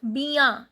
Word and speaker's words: bien: Bien, en nasal sound.